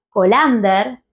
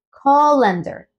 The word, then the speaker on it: colander: sería de una vocal no es colander sino colander colander y vean como la entonación está al principio no es cender sino